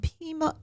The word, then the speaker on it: Pima: gone across this nation to help people and Pima am I saying it right Pima County Pima yes Arizona I just think that is fabulous